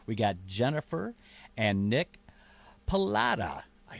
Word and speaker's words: Pallotta: We got Jennifer and Nick Pallotta.